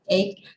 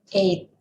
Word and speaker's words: eight: dan X untuk 88 ini ada huruf g tapi gitu tidak dibaca Thailand jadi yang benar itu untuk membaca 8 itu bukan gue tapi eight sama seperti kita membaca